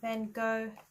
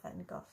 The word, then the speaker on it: Van Gogh: I love Van Gogh. I think he's pronounced Van Gogh in the States.